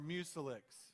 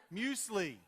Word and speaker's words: muesli: regular everyday Cheerios, or Mucilix. Mucilix, it's like, how many don't know what Mucilix is? I looked it up on the thing. It's the wheat mixture, nuts, grain. Muesli. That's how you say it.